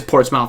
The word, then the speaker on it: Portsmouth: okay, it is Portsmouth. All right. It's just Portsmouth. Okay, I'll go Portsmouth.